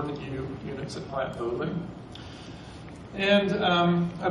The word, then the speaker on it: Vogtle: Vogtle, yeah, right.